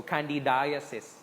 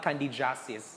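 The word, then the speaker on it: candidiasis: as basta there is you pronounce this so candy daisies not candy justice okay i'm doing it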